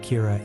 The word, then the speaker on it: Kira: this and calls him Kira which is the Japanese pronunciation of the word killer some people are in